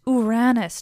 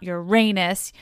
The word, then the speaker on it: Ouranos: back to when I told you how to pronounce the name of Cronus's father way, way back in the day. It's Uranus, not Uranus, you guys.